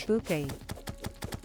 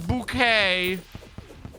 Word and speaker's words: Bouquet: being like, "We're called Bucket." to understand that she was mispronouncing bucket. I watched that show at way too young an age. It's bouquet. It's bouquet.